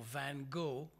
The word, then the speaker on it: van Gogh: van God's life or van Gogh as the Americans say or as the Dutch say you kind of clear your throat and say the name at the same time his life has usually